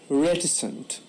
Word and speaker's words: reticent: the day is reticent the stress is on the first season reticent it means I'm willing